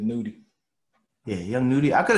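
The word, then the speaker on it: Nudy: How you say it, Nutty or Nudie? I think it's Nudie.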